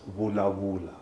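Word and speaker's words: vulavula: So something like to speak in Xitsonga is vula vula. But it's VU, VULA, vula vula. But if you were to pronounce it in another language, it's like vula vula. So the V. So us is vula vula. So we soften it.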